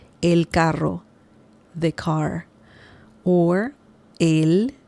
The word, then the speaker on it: él: Or él, it's the same pronunciation, by the way, with the accent mark and without the accent mark. It's the same pronunciation. Él.